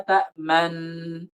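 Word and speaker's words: تأمنا: Harus diidghamkan dulu. Ta'man. Setelah diidghamkan sebentar, maka dimajukan bibirnya. Malaka la ta'man. Nah, seperti itu. Idghamkan dulu. Ta'man. Jangan langsung. Jangan ta'man. Jangan. Tapi idghamkan sebentar. Ta'man. Baru dimajukan.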